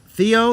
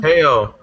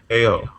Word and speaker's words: Te'o: Theo. Is it pronounced Theo? Te'o. Say it again. Te'o. Manti Te'o. Te'o. Okay. All right. So we agree on that.